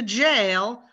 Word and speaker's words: jail: j and the yeah it's very different to say he went to jail versus he went to yale oh they're very different